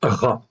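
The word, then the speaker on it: רַע: C'est une voyelle, c'est la voyelle A. Donc ça se prononce Ra en fait ici.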